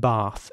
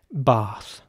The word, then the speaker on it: bath: in England would again pronounce the a like an R sound so not bath which would in fact be American but bath so the British way of pronouncing this word would be bath and the American way